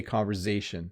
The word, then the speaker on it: conversation: thousands or so people around me we say conversation you hear a little zed sound come out